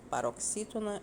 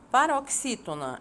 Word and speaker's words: paroxítona: Paroxítona é quando a penúltima sílaba é a que pronunciamos com mais intensidade.